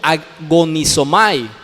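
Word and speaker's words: ἀγωνίζομαι: La palabra que se traduce aquí por esforzarse es una palabra griega que se pronuncia como agonizomai.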